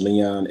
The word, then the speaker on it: Leon: some headphones okay cool well my name is Leon that's spelled l e o n last name is